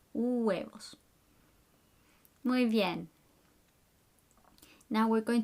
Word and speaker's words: huevos: pasta finally numero dose the h is silent huevos but you have to pronounce all the vowels in between huevos muy bien now we're